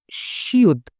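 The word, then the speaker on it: 시옷: ये कॉन्सोनेंट, ठीक है, इसको पढ़ते हैं शियुद। इसको शियुद भी कहते हैं, इसको सियत भी कहते हैं।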